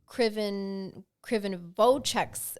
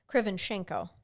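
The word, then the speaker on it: Krivonischenko: In 1997, it was revealed that the negatives from Krivonovchek's, I'm saying it wrong. I see I could say it right earlier. Hold on. Krivonchenko, sorry.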